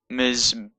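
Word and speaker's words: מזבח: So it's miz, miz, be, and the chet makes it a ch sound, but this patach means it's mizbeach. Now normally the vowel underneath the letter follows the letter, so it's pronounced after the letter, but when it's at the end of the word, it's often pronounced before the end of the letter that it's underneath.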